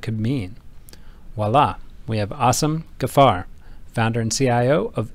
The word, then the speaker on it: Asim: Voila, we have Asim Ghaffar, founder and CIO of AG Capital, joining us today. Yes, his name is literally pronounced Asim, spelled A-S-I-M.